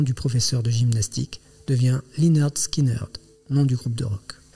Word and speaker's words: Lynyrd Skynyrd: C'est ainsi que Leonard Skinner, nom du professeur de gymnastique, devient Linard Skinnard, nom du groupe de rock. En y rajoutant un fort accent sudiste, la prononciation reste sensiblement la même.